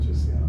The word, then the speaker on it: Jessiana: Well, how you pronounce it? What was the nickname that you said? Jessiana? Jessiana. Yeah. Jessiana.